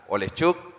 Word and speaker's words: Oleschuk: Se pronuncia Oleschuk.